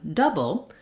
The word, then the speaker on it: double: three um syllables doble double just has two double and the o u just says vowel schah that tense schah the stress schah that sounds like uh it's not tense it's stressed so it's just longer than this chuah um it's the same sound we have in words like much and such and fun and I've Rewritten it